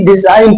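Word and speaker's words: design: साइ नहीं पढ़ेंगे ऐसे डिजाइन नहीं पढ़ेंगे बल्कि डिजाइन पढ़ेंगे इस की रीजन य है कि जी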